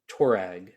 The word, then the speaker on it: Touareg: did I say it properly? Touareg? Touareg. That's the first time I've said it properly my entire life.